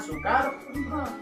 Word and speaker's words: Soekarno: Tulisannya Soekarno, bacanya Soekarno. Soekarno.